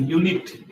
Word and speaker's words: unit: your sound and that is why it is pronounced as a unit here this word is yes is pronounced as